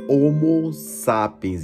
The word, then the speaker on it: homo sapiens: chamado de homo sapiens a pronúncia correta é homo sapiens ele aparecerá em cima